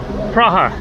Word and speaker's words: Praha: There you can see it says Praha. That is Prague. That's how you pronounce it in Czech.